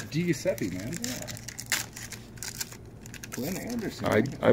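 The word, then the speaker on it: Di Giuseppe: Okay, pronounce that name. Phil. Nailed it! It's DiGiuseppe, man.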